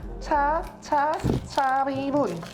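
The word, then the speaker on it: tshá-bí-hún: Cha bi bun.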